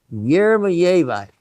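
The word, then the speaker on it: jeremejevite: So, um, it's yermaite. You can also say, uh, with a little bit of the sound of the J like that is the actual probably correct spelling as far as I know.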